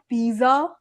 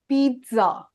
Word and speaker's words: pizza: This is not pizza. This is pizza.